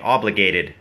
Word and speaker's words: obligated: obligated obligated นะ ฮะ หรือ ออก เป็น เสียง ด่อ แดก obligated นะ ฮะ i feel